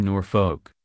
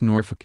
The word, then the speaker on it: Norfolk: happy to be in Norfolk pronouncing the second syllable as in folk music the Princess Royal shot her a withering look and told her it's Norfolk as in nor f-ck secretly Anne was pleased